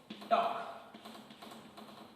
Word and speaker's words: talk: Okay, जब आप टॉक बोलते हो, TALK, for example here टॉक, अगर जब टॉक बोलते हो देन आप यहाँ पर यल होता है बीच में, लेकिन आप टॉक में बोलते हो का?